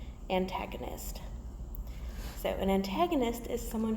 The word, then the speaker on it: antagonist: is new to you so an tag oh nist antagonist so an antagonist is